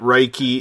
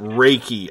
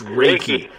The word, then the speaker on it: Reiki: getting in hell for calling it Riky it's pronounced Reiki I'm being told I'm being scolded by my audience in the chat room it's Reiki Reiki you know what they